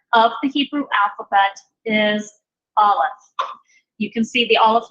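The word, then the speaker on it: אלף: So there's no sound associated with it. When you see an Aleph, we pronounce it with the sound of the vowel that accompanies it.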